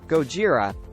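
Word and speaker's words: ゴジラ: would happen Godzilla or Gojira as it's pronounced in Japan has been a popular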